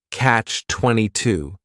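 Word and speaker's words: Catch-22: favorites is Catch 22 this is two words it's a compound noun the word catch is just one syllable and then 22 is three syllables and the stress is on that final syllable Catch 22 the word comes from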